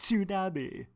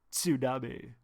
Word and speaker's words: tsunami: said Flintstones it's Flintstones just like the word tsunami it's soon a B you have to say it like George Takei sued a B Berenstein Berenstain Oh God